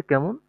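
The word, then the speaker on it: Ka: তারপর হচ্ছে কে, আমরা যেটাকে ইংলিশে কে বলি, এটার ডয়েস উচ্চারণ হবে কা। এটার ডয়েস উচ্চারণ কি হবে? কা।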